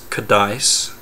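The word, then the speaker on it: CADICE: of the virtues so the acronym is kadis and it's spelled c a d i c e okay now just listen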